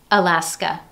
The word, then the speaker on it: Alaska: Alaska.